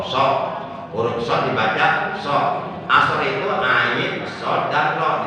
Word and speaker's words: ashar: Nah itu dibacanya asor, bukan asar, tapi asor.